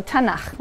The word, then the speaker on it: tanakh: on that sheet tanakh which is really the letters and they put little a's in there to make it easy to pronounce because it's hard to pronounce so tanakh okay um and this